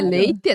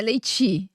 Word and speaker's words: leite: Então, e eu digo, a gente fala como se escreve, não é? Leite, não é leiti, é leite. É leite.